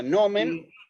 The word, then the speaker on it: nomen: esto que está acá nomen el acento puede estar aunque no esté la tilde en latín digamos no sí me explico o sea nomen lleva acento en la o y también en este